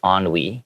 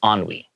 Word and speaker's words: ennui: So yeah, it just depends on your personal preference, but we're going to choose to do the American pronunciation, which is ennui.